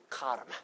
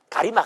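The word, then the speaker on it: कर्म: 전혀 사용되지 않았습니다 알다시피 원래이 말의 원어에 해당하는 발음은였다 카르마 한번 따라보세요 카르마 뭐 별로 힘든 발음도 뭐도 아닙니다 한번 더 따려 봐요 카르마 가리마 아니고 어 카르마이 카르라 하는 말을이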